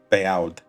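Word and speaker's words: בעד: For example, check out in line 1 the word beod. I read it as be'aud.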